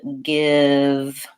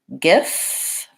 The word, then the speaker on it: give: and F being voiceless sometimes when we have the V sign at the ends of words people might have a tendency to say the F sound when they should be saying a voiced sound so words like have and give might accidentally sound like half and gifts and you really do want to have voicing on that V in all of those cases there is one word